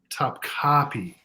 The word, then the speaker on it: Top Copy: Copy that's easy top top copy it's the emphasis is on the second on the C got it yeah your